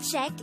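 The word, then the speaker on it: 책: noun for book the word czech is composed of just one syllable which is formed from the combination of the sounds of chia e and kyok and with that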